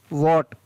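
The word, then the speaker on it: what: वॉट। वॉट का मतलब होता है क्या। तो यहाँ पर WS में S का उच्चारण नहीं हो रहा है, W का उच्चारण हो रहा है व, और A का ओ।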